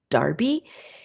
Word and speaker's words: Derby: by Joseph Wright of Darby I know it looks like it's spelled Derby but it's pronounced Darby it is 1763 to